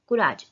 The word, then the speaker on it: courage: courage. सी का sound क्या आता है क. courage.